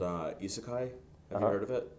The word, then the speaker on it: isekai: a genre of um of anime called uh isekai have you heard of it no what is it how do you spell it uh i s e k a i